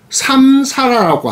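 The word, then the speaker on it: saṃsāra: 이것이 윤회인데, 이것이 산스크리트어로는 삼사라라고 합니다. 삼사라. 이 삼사라 하는 이 발음을, 소리를 받아들이는 것이 아니라 중국인들은 합력하면서 윤회, 마치 수레바퀴 도는 것처럼 회전한다, 헛돈다, 뱅뱅뱅 된다.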